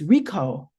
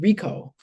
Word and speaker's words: Richo: It's spelled Richo, but it's Rico is how you pronounce it. Rico.